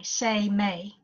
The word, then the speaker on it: Seimei: me s e I am e I it pronounced sa Y Yemeni Y Seimei okay okay and it's energetic in nature it's